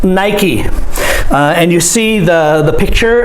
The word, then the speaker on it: Nike: It's not Nike. It's pronounced Nike.